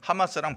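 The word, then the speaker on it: חמס: 일들, 포악한 일들이라고 나오는데 우연찮게도 그 발음이 하마스거든요. 지금 많은 악행을 저지르고 있는 하마스랑 발음이 똑같아요.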